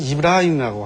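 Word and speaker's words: إبراهيم: 우리는 흔히 아브라함의 자손들이라고들 얘기를 하는데, 즉 성경 쪽에서 아브라함이라고 하고 아랍어에서는 이브라임이라고 합니다. 그러니까 발음만 이렇게 약간 차이가 있지 동일 인물입니다.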